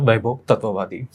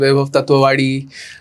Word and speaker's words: Vaibhav Tatwavadi: My name is Mayur and today with me is actor Vaibhav Tatwavadi. Hi Vaibhav, कसा आहेस? खूप मजा. Thank you so much. And I'm glad you pronounced the name correctly because since last 2 weeks, I'm hearing all sorts of names.